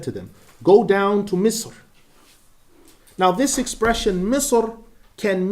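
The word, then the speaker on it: مصر: So in the recitation of Abdullah, Al-Hasan, Talha ibn Musarraf, and Al-A'mash, Misr is pronounced Misr without tanween, Misra.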